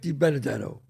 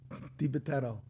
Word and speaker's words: DiBitetto: Like Japetto with a D.